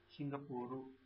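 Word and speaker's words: シンガポール: Singapore is pronounced as Singapuru.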